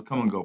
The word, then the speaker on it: Kumgo: And it's spelled Kumgo, if you didn't see that. I'll show it to you again. It's there it is right there. Come and go. See that? With a K.